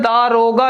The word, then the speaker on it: दारोगा: दरोगा ये गलत है, दारोगा लिखा जाता है और उच्चारण भी इसका ऐसे ही होना चाहिए, दारोगा।